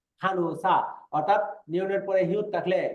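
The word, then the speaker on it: 간호사: তারপরে খানুসা এমনি এটার উচ্চারণ কিন্তু দেন খানু খানহুসা এরকম না উচ্চারণ হবে খানুসা খানুসা অর্থাৎ নিয়নের পরে হিউ থাকলে এই নিয়নটা হিউতের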